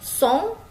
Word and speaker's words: son: Oke, song ya dibaca song.